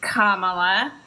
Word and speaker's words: Kamala: kamla Harris's parents that's shamala that's why we pronounce her name Kamala and that is her dad that black man